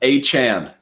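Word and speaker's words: Achane: going with a Kane, who I've never actually learned the proper way to pronounce it. I've heard like 15 different ways. Achan, confirmed. Achan, is that locked and loaded the right confirmed. way to From the media guide from the Miami Dolphins.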